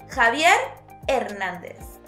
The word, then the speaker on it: Javier Hernández: Javier Hernández. Remember, the H in Spanish is silent.